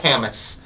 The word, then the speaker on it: Kametz: You got a lot of Kametz.